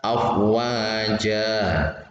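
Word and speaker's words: أفواجا: Afwaja mat iwad. Kalau di akhir kalimat atau akhir ayat maka membacanya afwaja, afwaja.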